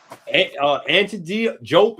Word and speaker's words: Diop: The UNESCO and all that with Jope and Diop or Jope, however y'all want to pronounce Sheik Anta Diop's name.